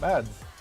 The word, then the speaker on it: Mads: Wait, how do other streamers mispronounce Mads? It's just Mads.